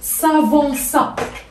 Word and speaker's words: s'avança: غنستعمل لو باسي سامبل، غنقول لك il s'avança. Il s'avança. وهنا ما نساوش ديروا لا سي دي باش ما نطقوش il s'avança.